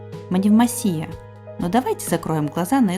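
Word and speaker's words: Μονεμβασιά: без боя и кстати ударение в названии ставится на последний слог манев масия но Давайте закроем глаза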